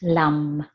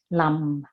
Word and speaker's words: Lam: is Lam L AM and it's pronounced Lum the selectmen sound at the end of it Lum and you're in the